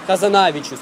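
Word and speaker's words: Hazanavicius: же все на последний как же типа мишель хазанавичус тебя в дом нужно сказать хазанавичус такое интересное а замечу хазанавичус каракули de parfum вот туда актив амели рыбин коричневом виды ну-ну .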